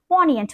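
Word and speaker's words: poignant: 598 इट is called पोयट what is इट इट is called पोएंट यहां प जी silent हो जाएगा ये एडजेक्टिव है जिसका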